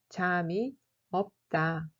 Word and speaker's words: 잠이 없다: peu, on utilise l'expression 잠이 없다. 잠이 없다. L'adjectif 많다 veut dire nombreux, abondant, avoir beaucoup, etc. Et 없다 est son contraire. 잠이 없다 se prononce comme 잠이 없다.